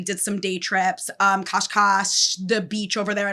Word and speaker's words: Cascais: I mean, you should appreciate the fact that it's called Oh, it's pronounced kashkash. um with an emphasis on the second syllable and a sh sound at the end like the s in